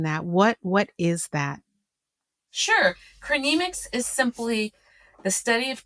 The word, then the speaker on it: chronemics: You're an expert in chronemics. Is that how you pronounce it? That's it. That's how you pronounce it. Chronemic. Okay. How do you explain that? What is that? Sure. Chronemics is simply the study of time as it's